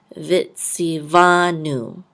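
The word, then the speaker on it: וְצִוָּנוּ: This time we're going to pronounce this as a V sound. So with the kamatz, this will say va. Vitziva. And this nun with a vav and a dot through it will say nu. Vitzivanu.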